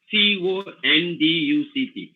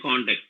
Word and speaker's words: conduct: are speechless for example we take the word c-o-n-d-u-c-t so when you say context if it is a verb you call it conduct so the same word is if it is a noun you say contact there are so many